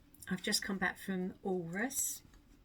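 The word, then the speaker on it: Alrewas: I've just come back from Walrus. I've decided that it must be how you pronounce it. Like walrus, it's almost like it's got a silent W in the middle.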